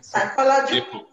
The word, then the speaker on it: psychology: is silent in cycle the p i mean psychology psychology yes vehicle vehicle which letter is silent in vehicle good that's the blood to